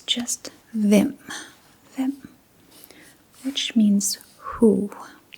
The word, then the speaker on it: hvem: And as you can probably already notice, the H here is silent. We do not pronounce the H at the beginning of the word. So it's just them.